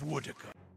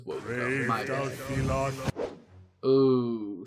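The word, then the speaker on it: Woedica: it reminds me of wooda I've been pronouncing that as wood o Shadows huh okay just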